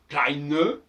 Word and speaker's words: kleine: Il n'y a aucun exemple en allemand d'un E final qui ne soit pas prononcé. À commencer par exemple klein, kleine. Alors pour le féminin, on va lourdement marquer le E.